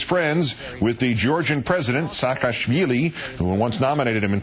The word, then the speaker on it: Saakashvili: with the Georgian president, Saakashvili, who once nominated him, in fact, for a Nobel Prize, even though he consistently mispronounces his name as Shishkevili.